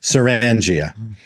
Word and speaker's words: Sirrangia: I I I made this name. I should be able to pronounce it. Serangia.